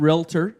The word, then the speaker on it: realtor: You were putting three syllables. It doesn't surprise me. It was three syllables that you were putting.